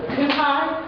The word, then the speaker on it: Cuhaj: I want to introduce our three wonderful authors that we have here, starting on the far right, and Joe Cuhaj. There you go. Correct spelling? Yes. Correct pronunciation.